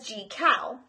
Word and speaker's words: Jekyll: tale made it was the only one to pronounce Jekyll's name correctly as G cow dr.